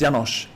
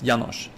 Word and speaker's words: Janos: It's Yanosh. The name like it's it's Hungarian and the S is like sh. So, it's Yanosh.